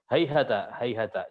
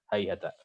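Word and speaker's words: هيهات: Kemudian yang ke-6 Hayhata di Mu'minun ya. Hayhata. Baik. Mu'minun 36. Nah, itu ada 6. Hafs membacanya ketika waqaf dia menggunakan ta maftuhah bukan ta marbutah. Bukan jadi ha ya. Tapi dengan ta.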